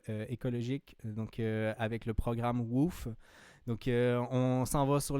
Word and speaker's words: WWOOF: WOOF, donc ça s'écrit WWOOF, c'est Worldwide Organization for Organic Farm.